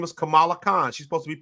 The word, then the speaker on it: Kamala: in 2016 her name is Kamala her it's pronounced Kamala it's spelled the same way her name is Kamala Khan she's supposed to be Pakistani so I